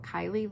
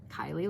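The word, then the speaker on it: Kiley: So her entire life, we have always Kylie like Riley, Kylie like Riley. But most people who have never met us or seen us or whatever would spell it Kylie like Kyle.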